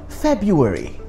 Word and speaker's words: February: The correct pronunciation is February. February. Okay? February. Yes, over of February.